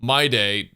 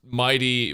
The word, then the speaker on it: Mydei: My day, pronounced mighty by the English dub of the game, but should definitely be pronounced my day, scales on HP, so